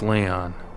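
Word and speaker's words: Lyon: action where's lion lion it's spelled with an L is it lion that's Leon that's Leon where's Leon what have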